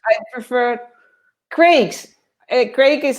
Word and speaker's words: Craig: Rafa says, I prefer Craig's. Craig is spelled C-R-A-I-G. Okay, not Thank Greg.